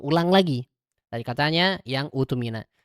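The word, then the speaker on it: اؤْتُمِنَ: Jadi catatannya, Al-Baqarah 283, dibacanya menjadi utumina. Bukan itumina, bukan atumina. Salah ya.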